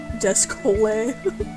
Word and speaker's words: Descole: DSC Hole but pronounced like Chipotle. Descole. Descole.